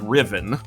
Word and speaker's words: Ruthven: of Lord Byron called Lord Riven, which is spelled Ruthven, because English is a made-up language and there are no rules.